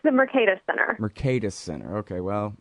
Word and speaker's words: Mercatus: It's the Mercatus Center.